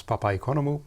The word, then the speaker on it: Papaikonomou: to make a fool of myself it is pronounced Papa economy my full name is actually Papa economou and I suggest we just keep it to